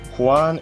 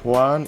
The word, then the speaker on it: Juan: Dy or letter or it can be pronounced as H in Filipino since uh we Filipinos